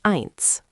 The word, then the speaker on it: eins: One is eins, one. Important sound. I is like eye, so eins is like eins with an eye sound, eins.